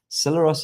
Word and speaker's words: Celeros: Celeros is spelled like celery, Celeros.